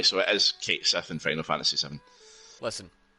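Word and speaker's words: Cait Sith: But with in the game, because there are no accents or like they call them fadas over some of the letters, it's not accented that way. So it is Kate Sith in Final Fantasy VII.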